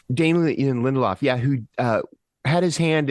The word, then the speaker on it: Damon Lindelof: It's Damien Lindelof, or however you say his name. Damon Lindelof. Damien Lindelof, yeah, who had his hand in Lost.